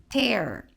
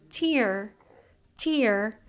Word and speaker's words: tear: Então, se a gente falar tear, vai ser rasgar. No entanto, se eu pronunciar como tear, aí são lágrimas, ok? Lágrima, no caso.